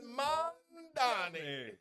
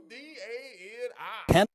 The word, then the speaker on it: Mamdani: My name is Mamdani. Mamdani. The name is Mamdani. Mamdani. You should learn how to say it because we got to get it right.